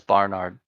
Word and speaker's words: Barnard: No, it's Barnard. Yeah, no, they should just pronounce it Bernard, but well, he wasn't American, but did he sometimes bring lost skiers a little barrel of rum?